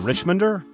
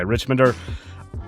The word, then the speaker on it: Richmonder: Michael is the founding editor of the Richmonder. Is that how it's pronounced? I didn't ask you that. Rich, you nailed it. Okay. Richmonder, which is a nonprofit